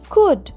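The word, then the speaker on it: could: কথা বলল next C ও ইউ এল ডি কুড মানে আমি পারতাম আই কুড help you yesterday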